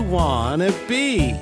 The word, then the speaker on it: want to be: What do you wanna be? I wanna be a police officer. I wanna be a police officer. Pronunciation tip. In natural English, want to be sounds like wanna be.